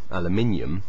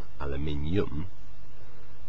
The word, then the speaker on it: aluminium: sounds a bit odd so naturally the stress is different they say aluminum which sounds a bit more English um as opposed to aluminum which sounds a bit funny but anyway the discoverer